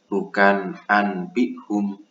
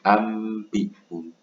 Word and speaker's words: ambihum: Nah, bukan anbihum, tapi ambihum. Bukan alimun bidati, tapi alimum bidati.